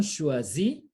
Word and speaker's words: choisit: Il, elle, on choisit. T is silent.